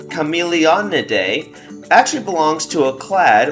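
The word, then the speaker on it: Chamaeleonidae: So their family, which is pronounced Chameleonidae, actually belongs to a clade or a family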